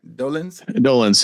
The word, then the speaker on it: Dolenz: This one right here was starring one Ami Dolenz. Did I say it right? Dolenz.